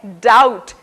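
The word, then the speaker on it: doubt: और चौथा उदाहरण है डाउट, जिसमें B साइलेंट है।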